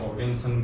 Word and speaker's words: Oganesson: ओगेनसस या ओगेनसन भी लिख देते हैं, ओगेनसन, ओगेनसन, ठीक है।